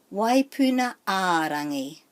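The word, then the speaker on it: Waipuna-ā-Rangi: So the emphasis is on a, waipuna a rangi.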